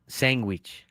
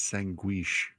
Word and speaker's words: sanguich: Sanguich. Sanguish. Sanguich. Sanguish. Sanguich. No, it's not guich. It's sanguish.